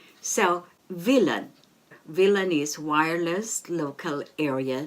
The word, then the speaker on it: WLAN: W-L-A-N, and as you know, W is pronounced as V in German. So, WLAN.